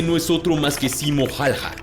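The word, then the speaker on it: Simo Häyhä: es otro más que simo halja también pronunciado simo jaiha pero más conocido por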